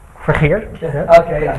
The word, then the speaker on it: Vergeer: I'm going to pronounce this wrong. Vergeer. Vergeer.